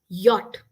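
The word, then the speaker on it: Jot: Okay, and J is pronounced as yacht.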